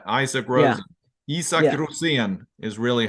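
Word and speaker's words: Rosén: Rosen is really how you pronounce it.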